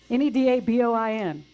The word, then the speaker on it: Neda Boin: N-E-D-A-B-O-I-N.